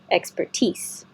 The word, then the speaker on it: expertise: expertise expertise I know this looks like teas like nickname for t-shirt but it is an S sound tease proffered expertise excuse me proffered expertise